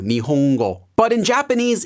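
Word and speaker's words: 日本語: letter such as in the japanese word for the language japanese nihongo you have that slight ng sound there too nihongo but in japanese it's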